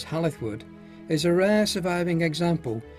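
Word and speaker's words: Hall i' th' Wood: hall in the wood pronounced locally as halith wood is a rare surviving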